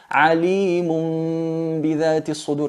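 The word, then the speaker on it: عليم بذات الصدور: En el ejemplo del tanwin, por ejemplo, es alimun mun bidhati sudur, se pronuncia alimun bidhati sudur, y si os fijáis en los Coranes vais a notar que encima del tanwin o encima de la nun hay una pequeña mim. Se escribe con una pequeña mim, haciendo mención, digamos, a esta regla.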